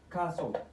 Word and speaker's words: castle: ay ku saabsan yahay waxaad ogaataa T-da marar badan waxay noqotaa silent ama mid aanan lagu dhawaaqayn silent T silent T xarfahani aad u jeedid halkan iyo jumlooyinkan oo la adeegsanaya xarfahan dhamaantood waxay qabaan TL words listen ma listen often whistle rustle castle apostle trestle macnahooda aan